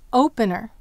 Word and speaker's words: opener: Now let's contrast it with opener. Open plus. Where's the accent in opener? It's on o.